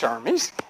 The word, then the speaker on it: Hermes: little bit okay let's see now John Hermes pronounced Hermes is the messenger of the Gods in Greek